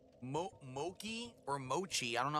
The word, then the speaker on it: mochi: can I wield it's okay I can it's pronounced Mochi thank you I never knew that Mochi okay